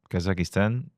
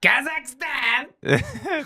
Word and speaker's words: Kazakhstan: You're just adding a syllable into it. Oh, that's because Sorry. Sorry. That's my Portuguese accent. That's how we say that's how we say it back home. Sorry. So, how do you say Kasakistan? Huh? You say Kazakhstan.